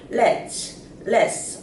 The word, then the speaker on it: let's: 그래서 let's인데 let's의 그 발음 경제 현상이 일어나서 less라고 하게 됩니다. 해보세요. less 어느 게 편하세요? less가 편하죠.